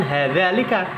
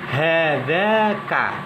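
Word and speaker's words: هذاك: Tidak boleh dikatakan hadzalika, tapi harus dikatakan atau diucapkan hadzaka. Lamnya tidak boleh diucapkan.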